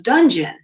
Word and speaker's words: Donjon: and the pronunciation because it was spelled Donjon, but the reading for it, the pronunciation of it was dungeon, spelt in probably an old English way.